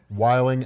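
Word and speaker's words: wilin': Wilding out. They wilding out. They're wilding out. Wiling out. No, you added too many syllables to Oh, it. I know. You had the G on there.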